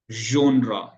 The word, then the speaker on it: genre: So we pronounce it casual, measure, genre. ये G की sound आ रही है यहाँ पे. G इस साउंड को दे रहा है.